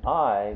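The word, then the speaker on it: 合: And I, meaning to come together, or joining or fitting together, that means that, or that's pronounced I.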